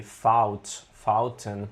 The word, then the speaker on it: fouten: Fouten. Yeah. Sorry for that. This was a wrong pronunciation completely. This is fountain. Yeah, it sounds like French faute.